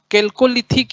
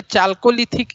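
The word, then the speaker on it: Chalcolithic: Second में कौन सा युग आता है, ताम्र पाषाण युग, कैल्कोलिथिक या चाल्कोलिथिक एज, है ना। कैल्कोलिथिक कहलाएगा उच्चारण में, CH के नाम से कुछ लोग चाल्कोलिथिक बोलेंगे।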